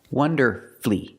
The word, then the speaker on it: wonderfully: after these words so when you see Fu l l y don't pronounce that U shorten the word and make it three syllables like masterfully beautifully now